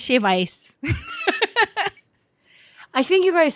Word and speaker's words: shave ice: Why do you say shaved with the ED? Like past tense shaved. Because it is shaved. But we don't say it like that. We say shave ice.